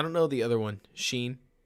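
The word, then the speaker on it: Schein: schroeder or something like s-s-c-h-e-i-n yeah that's sheen which i already taught myself how to pronounce because he's in my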